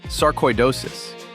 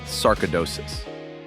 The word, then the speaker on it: sarcoidosis: It's sarcoidosis, not sarkoidosis. Sarcoidosis. Coy, like the fish, except instead of a peaceful pond, you get appointments and paperwork.